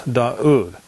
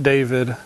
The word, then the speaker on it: David: To the best of my understanding, his name is pronounced as Daud, not David, not David, and not Dawid, which I've also heard. Again, they're pronouncing the Wa as a Wa sound rather than a U or double O.